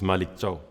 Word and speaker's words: Malick Thiaw: Could you just tell us what what the correct pronunciation of of your name is? Yes, it's the surname. Arena is Malik Cho.